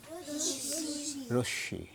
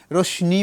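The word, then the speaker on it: রশ্মি: রশি রশ্নি বলে না অনেকে শুনেছো রশ্নি বলে ওরা মনে করে এটা দন্তন্য কিন্তু এটা দন্তন্য নয় এটা ম ফলা কিন্তু যুক্ত হয়েছে কিভাবে ওই যে বললাম পুরোটা না লিখে ওই পুটলি থেকে শুরু করে বাকিটা যুক্ত হয়েছে এইজন্য এটা হচ্ছে তাহলে কি রশমি রশমিও নয় রশমিও নয় এটা হচ্ছে রশী ওই যে আংশিক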